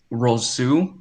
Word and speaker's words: Rousseau: I'm going to take Gregory Rousseau. I think that's how you pronounce it.